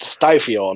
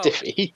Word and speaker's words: Stiffio: It's pronounced Stifio, not Oh, Stiffy.